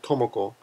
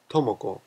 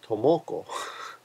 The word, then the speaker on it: Tomoko: give an example um usually the first syllable is slightly stronger like with girls names and this is important for you guys for example tomoko tomoko a lot of foreigners will say tomoko that's a typical name